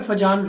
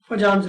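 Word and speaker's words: Fajans: ठीक है, तो टॉपिक का नाम है फजान रूल। कुछ लोग इसको फयान्स रूल भी बोलते हैं।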